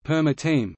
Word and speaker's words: Paramatman: The word stem paramatma, paramatman pronounced perma-tm, its nominative singular being paramatma, paramatma pronounced perma-tma,